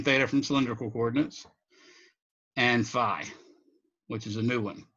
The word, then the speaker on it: phi: from cylindrical coordinates and phi which is a new one okay some people pronounce that fee by the way i've